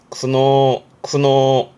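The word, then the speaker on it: 苦悩: 앞에 고자시죠? 고뇌하는 거네요. 발음이 쿠노.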